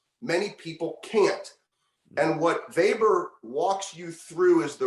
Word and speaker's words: Weber: that I did on Max vber it's spelled Weber web R he's one of the